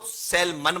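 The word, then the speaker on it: Salmond: John William सेलमन एंड, अच्छा इनको सेलमन बोला जाता है, एल इनका साइलेंट होता है, ठीक है।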